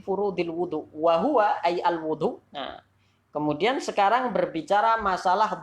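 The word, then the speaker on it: الوضوء: Apakah dibaca dengan al-wudu atau al-wadu atau al-widu? Nah, dibaca seperti apa? Katakan di sini wa huwa bi dhammil wawi fil ashhar ismun lil fi'li.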